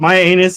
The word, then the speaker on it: Mianus: But my anus in Connecticut is spelled MIANUS. Yeah, yeah. So they spelled it with an I instead of Y.